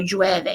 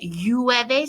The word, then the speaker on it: llueve: Okay, so llueve. You're not going to, some people pronounce it llueve. Some people will say llueve, more of a J sound.